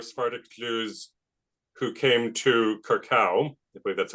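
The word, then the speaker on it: Curaçao: Even before they set up shop there, though, there were Sephardic Jews who came to Curacao, I believe that's how it's pronounced, in the Caribbean.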